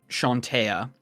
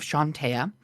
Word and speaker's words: Chauntea: In common, you would see at the base of the statue that it says Chauntea, Mm-hmm. or Chauntea, how you'd pronounce it. It's Chauntea.